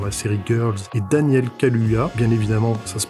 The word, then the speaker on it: Kaluuya: pu voir dans la série girl et daniel kaluuya bien évidemment ça se prononce comme ça révélée par la série skins